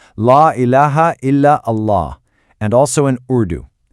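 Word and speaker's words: لا إله إلا الله: So, here you can see the declaration in English, in Arabic script, how it's pronounced, La ilaha illa Allah, and also in Urdu.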